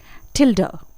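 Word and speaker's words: tilde: इसे हम बोलते हैं एक बार फिर से तिल्दा ठीक है इसे कई और नाम से जाना जाता है लेकिन फिलहाल आप इसे प्रोनाउंस कीजिए तिल्दा नेक्स्ट साइन यह जो आप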